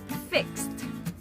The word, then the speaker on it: fixed: last time kissed all right next word say fixed one more time fixed do not say fix